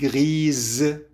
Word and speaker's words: grise: La robe est grise. الروب رمادي، لكن حطينا بآخرة وبالتالي الاس أصبحت تلفظ زد، لأنه قلنا إنه الاس بين حرفين صوتيين تلفظ زد.